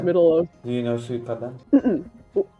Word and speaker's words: Suikoden: Do you know Suikoden?